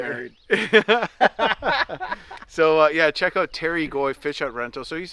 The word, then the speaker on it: Terry Goy: Terry Goy Fish Hut Rentals. Terry Goy? Terry Goy.